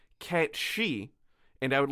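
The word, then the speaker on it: Cait Sìth: portion specifically on the kate sith and i was very excited and i learned that the proper pronunciation is the cat she and i would like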